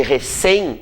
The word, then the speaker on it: recém: Recém é uma palavra oxítona.